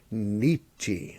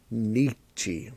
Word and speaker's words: Nietzsche: kill you makes us stronger um by friedrich nietzsche friedrich nietzsche why are you saying it like that because